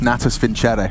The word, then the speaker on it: Natus Vincere: Navi, Natus Vincere. I believe it's pronounced.